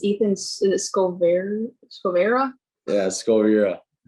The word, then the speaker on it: Skoviera: call um i have new agent um this pronounced your last name it's ethan scovera yeah let's go over here scoviera okay yeah yeah ethan has been with us